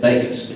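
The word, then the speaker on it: Bakhaus: Rusty told me 19 years ago, he said, if you want to know how to pronounce it, just remember, John baked me a cake. Bacon. That's the way it's pronounced. Bacon.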